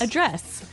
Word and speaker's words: address: yes to address address address now if you notice it's spelled the same way as address that's right but you pronounce it differently the verb address has the the stress on the second syllable okay address yes and